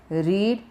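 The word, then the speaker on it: read: क्या है, सेम है, लेकिन तीनों का प्रोनाउंसिएशन कैसा है, अलग है। चलिए, इसका है रीड, ये है रेड, रेड, रीड, रेड, रेड यानी इसका अर्थ हुआ पढ़ना।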